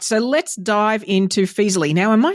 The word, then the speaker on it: Feezily: So Some people mispronounce and call it Feezily. I don't know. They add an R in there.